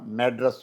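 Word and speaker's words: Madras: मैड्रस बोलते हैं उसको। जैसे हम मद्रास बोलते हैं ना स्पेलिंग वही है हम वहां के वो मैड्रस बोलते हैं।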